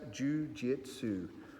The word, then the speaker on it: Jiu-Jitsu: It's pronounced Jiu-Jitsu.